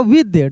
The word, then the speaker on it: with: है, लिखा रहता है विद, WITH, क्या पढ़ते हैं, विद, विथ नहीं, विद पढ़ेंगे, ठीक है ना, विद.